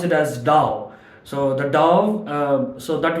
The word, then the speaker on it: Tao: It is pronounced as Tao, although the literal spelling is Tao. They pronounce it as Tao.